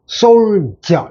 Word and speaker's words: soldier: 요거는 발음할 때도, soldier.